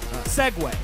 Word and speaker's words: segue: It's pronounced the same.